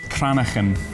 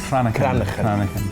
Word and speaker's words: Cranachan: Cranachan. I bet no one English person can pronounce this. Cranachan. You can't say khan.